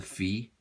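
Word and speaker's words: φ: beta gamma theta phi these are what we call english pronunciations and actually for all the eyes right greeks Saifi this is a fee there's a theta okay and this is we say beta right what they really sing Vita this is this is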